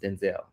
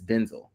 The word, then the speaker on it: Denzel: By the way, his name is actually not pronounced Denzel. It's Denzel.